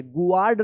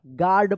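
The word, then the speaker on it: guard: गुड नहीं पढ़िएगा आप। गार्ड पढ़िएगा।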